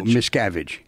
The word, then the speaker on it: Miscavige: What's the correct pronunciation? It's Miscavige? No, Miscavige. Miscavige.